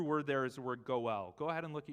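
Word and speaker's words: גּוֹאֵל: there is a word go well go ahead and look at your neighbor and say go well the real guttural g go well go ahead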